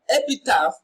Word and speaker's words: epitaph: In epitaph, where we have PH on the line, we have what? In fan, where we have the letter F, it is pronounced as F.